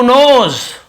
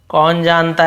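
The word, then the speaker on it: knows: उसने जवाब दिया, हु नोज, कौन जानता है। हु नोज यानी कौन जानता है, यहाँ पे के साइलेंट होता है, नोज पढ़ते, क्नोज नहीं पढ़ेंगे, के साइलेंट, के एन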